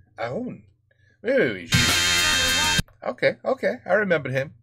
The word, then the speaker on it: Haroun: Well, I probably pronounced it wrong. Haroun. Right? You don't pronounce the H. Haroun.